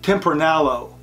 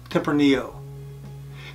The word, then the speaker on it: Tempranillo: with would be tempranio many people call this tempranalo but the correct pronunciation is tempranillo Tipper Neo wine comes from the the tempranillo